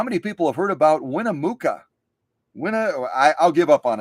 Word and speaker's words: Winnemucca: city name isn't it w-i-n-n-e-m-u-c-c-a I would pronounce it uh Winnemucca but maybe I'm totally screwing it up and I'm gonna